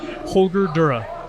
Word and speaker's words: Holger Durre: it's a good question because it's german so okay the way that i pronounce it here is holger dura okay holder dura now